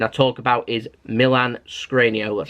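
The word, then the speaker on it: Škriniar: have been requesting I talk about is Milan scrano that's how you say his name scr Scania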